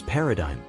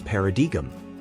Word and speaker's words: paradigm: this one pronounced as Paradigm usually mispronounced as Paradigm Paradigm means a model or example particularly in academic or theoretical contexts the g is silent and the word ends with the ime sound now an example this